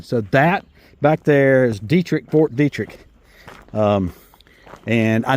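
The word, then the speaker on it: Detrick: So that back there is Dietrich, Fort Dietrich. Um and I know that's how you pronounce it because I had a drill sergeant uh 86 went in May of 86.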